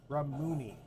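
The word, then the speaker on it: Ramune: it's I think it's pronounced ramuni. It's a drink from Japan, and it's got a little marble in there.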